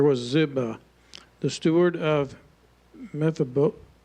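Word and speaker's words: Mephibosheth: Zeba, the steward of Mephabos. Good luck, huh? Good luck. No, Mphibicheth. At least that's how Americans often say it. But yeah, just just pretend you know how to say it.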